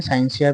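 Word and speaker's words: scientia: किस शब्द से हुई, लेटिन शब्द से, साइंसिया, साइंसिया इसको कहते हैं, साइंसिया प्रोनाउंसिएशन होता है, से हुई है, जिसका अर्थ होता है ज्ञान या फिर जानना।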